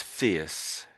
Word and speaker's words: fierce: So, um this one here is fierce. Fierce. Fierce. Fierce. I think I assume it comes from fear as in I'm fearful of something.